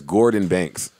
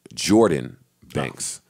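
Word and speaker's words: Gordan Banks: play a record bye I always I always pronounced this guy's name as Gordon banks and every time I do he gets angry about it and tweets me and he loves the fact that I support him so but he hates how I mispronounce his name what's his name he says it's pronounced jordan banks but as gu o r da n banks I mean I just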